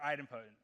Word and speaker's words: idempotent: but it turns out you can either pronounce it it him it infinite or idempotent but I prefer the